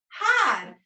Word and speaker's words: hide: I'd, hide. And remember the E is silent. It doesn't make a sound.